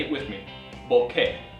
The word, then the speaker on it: bokeh: up front so B say it with me Boke not b or bokei or B it's Boke now you'll hear it